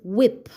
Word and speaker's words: whip: But in the rest of your words the sound that we we will hear for wh is W. Okay. So let's start by making the sounds in the word whip. Whip. The sounds you can hear in the word whip are wh I p whip.